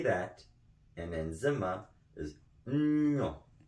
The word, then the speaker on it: nwiɔ: The way you say that in Nzema is Nwiɔ. Nwiɔ.